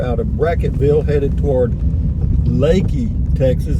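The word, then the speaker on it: Leakey: of bracketville headed toward lakey texas that's how it's pronounced but it's spelled l-e-a-k-e-y but we're just out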